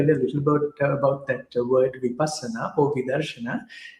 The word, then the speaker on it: Vipassana: So, Barbara, you pronounce it for me, please. Vipassana? Oh, Vipassana.